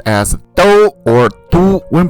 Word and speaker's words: 都: When it is used as an adverb, this character is pronounced as do, which means both, all, even, or already. When used as a noun, this character is pronounced as du, which means capital city or metropolitan city.